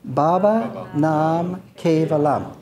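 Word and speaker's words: Baba Nam Kevalam: to pronounce it with me uh so it's pronounced babaa Nam nalam and all together Baba namam very good so there I said that means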